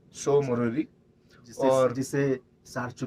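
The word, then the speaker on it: Tso Moriri: नहीं तो हम TSO को टसो, कोई टीसो, कोई कुछ बोल रहा था, कोई कुछ बोल रहा था। तो दैट इज सो मोरोरी। वैसे मैं सोच रहा था कि वो टी साइलेंट होगा, लेकिन आज कंफर्म हुआ।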